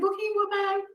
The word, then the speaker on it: Bokeem Woodbine: Am I saying it right? Is it Bokeem Woodbine? Yes, it is.